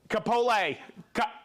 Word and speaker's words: Kapolei: Kapolei.